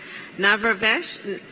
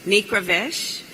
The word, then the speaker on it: Nikravesh: we have Mr babek navrabash Excuse me please forgive me I'm gonna I'm gonna do that again and it's important to pronounce correctly it's nikravesh and he is a